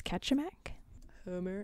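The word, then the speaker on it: Kachemak: Bay I looked up there's a couple different ways they say to pronounce it but I think it's catch a Mac spit yeah I think there's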